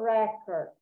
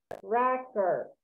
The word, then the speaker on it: record: It's a noun, so it's a Emilio record.